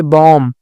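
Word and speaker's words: balm: है फिर यहां पर बॉम तो यहां पे बी साइलेंट होगा फिर यहां पे कुड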